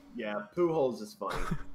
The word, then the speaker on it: Pujols: Is it like pools but spelled weird? It's P-U-J-A. Yeah. O-L-S. So it is actually pools. That's a rough name. Yeah, Pujols is funny. Pujols is funny.